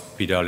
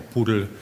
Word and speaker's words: PDAL: Pidal is very, or Poodle, pronounced in US as far as I know.